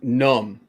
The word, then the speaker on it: numb: Well, that's just like the word numb, NUMB. What the hell's the B in there for? Well, the B is silent.